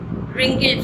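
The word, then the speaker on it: wrinkle: ठीक है, जरा इसको रिंकल नहीं पढ़ना है, W साइलेंट है, रिंकल फेस।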